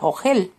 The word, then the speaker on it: ogel: no lo puedo comer, lo cual en hebreo se pronuncia ogel.